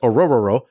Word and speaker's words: Orhorhoro: tackle out of Clemson, Orhorhoro. So H's are silent. It's just pronounced Orhorhoro.